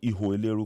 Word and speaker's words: Iho Eleru: original inhibitory specimen i i would say iwo liru because they say iwo which is spelled wrong i suspect that when